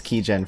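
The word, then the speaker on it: Qygen: by uh kaijin sorry let's pronounce key gen for sure but spelled q-y-g-e-n i test um i'm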